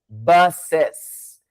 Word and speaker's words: buses: Então, one bus, 2 buses. Você vê, é algo que você tem que aprender uma nova pronúncia, porque simplesmente um S no final ali não é o que vai atender.